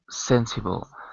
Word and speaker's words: sensible: sensible. Sensible. 3. And the stress is sensible. Is the first one, I think so. It's the first.